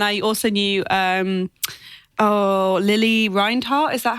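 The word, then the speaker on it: Lili Reinhart: I think and I also knew um oh Lily reinart is that how you say her name yes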